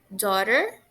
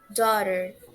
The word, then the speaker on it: daughter: Só que nesse caso, gente, o GH ele vai ser mudo. A gente não vai pronunciar ele.